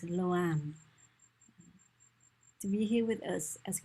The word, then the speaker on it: LoAn: If you are English speakers, then the best way to pronounce her name is LoAn.